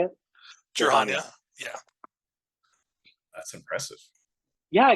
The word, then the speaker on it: Jir'Haniya: Jir'Haniya.